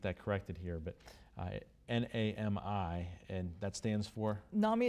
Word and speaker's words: NAMI: the first same and it's not me not Naomi but I get that corrected here but I Nami and that stands for